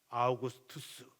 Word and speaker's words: 아우구스투스: 책에는 다 그렇게 기록 아우구스투스 투스 이렇게 이름을 붙여요. 이게 라틴어 로마어 그대로 발음을 해 가지고 아구투스 이런 말을 붙입니다.